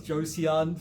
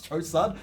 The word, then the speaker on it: Joseon: How would It's pronounce I it? used to think it was Joseon for like Yeah.